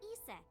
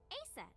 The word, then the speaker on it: Isis: horses mom is named isis but in ancient egyptian it's pronounced closer to isa or asa hmm how do i